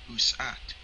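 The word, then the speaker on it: Aset: see the problem is Isis is a Greek and Coptic reconstruction of the Egyptian name usat Isis was not pronounced Isis in ancient Egypt therefore the name Israel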